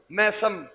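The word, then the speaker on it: ميثم: moderate हो गया जमाना मैसम तो मैसम गलत प्रोनंसिएशन है इसकी इस्लाह करें मीसम मीम कसरा के साथ जेर के साथ मीसम एक है मीसम एक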